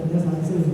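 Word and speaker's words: slurry seal: Bacanya selarisil, tulisannya SLURRJ SEAL.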